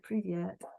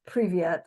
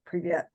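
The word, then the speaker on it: привет: Victoria VI preet preet preet um or privet I should say privet um preet um Craig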